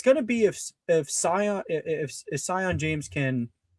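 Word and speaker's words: Sion: It's going to be if if Scion if if Scion James can or is it Scion or Seion? I don't want to pronounce it. Seion. Okay. because it's not like Zion.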